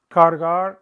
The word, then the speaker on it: cargar: Cargar, to carry. Don't leave that middle R out.